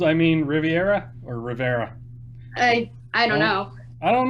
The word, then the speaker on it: Riviera: just end up saying Rivera Rivera yeah why is that second eye silent I don't know I think it's just because um it it's originally named after like the French Riviera and then with so